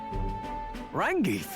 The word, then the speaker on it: Rangif: Rangif. I love that they say the name just so you know how to pronounce it. Rangif, is that truly you?